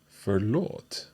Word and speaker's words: förlåt: So let's hear these three sounds again, - "På". - "På". - "Dåligt". - "Förlåt". Okay. So it's a longer 'å' sound for all of these.